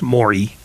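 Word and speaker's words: Morey: but first of all his name is pronounced mori he's not an eel despite your description of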